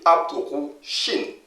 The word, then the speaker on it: Abd-ru-shin: Il s'écrit Abdou-Shin, mais il se lit Abdou-Shin.